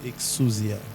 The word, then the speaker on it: Exousia: Le thème de mon message ce matin, c'est exusia.